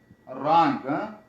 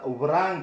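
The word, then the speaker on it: wrong: ته بل مثال درکړم، مثلا یا ووایم چې رانګ. اوس دلته به چون په ابتدا د کلمې کې ډبلیو مقابل د آر نه راغلی نو ډبلیو نه تلفظ کېږي، نو تاسې رانګ یا ریپ، نو دا به ورانګ به نه وایي، دا به رانګ وایي چې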